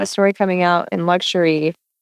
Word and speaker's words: Luxury: It looks like Luxier. It looks like Luxier. We're all just Yeah. But it's actually luxury.